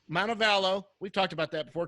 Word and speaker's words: Montevallo: University of Montevallo how do you say that montebello Montevallo we've talked about that before career 305 hitter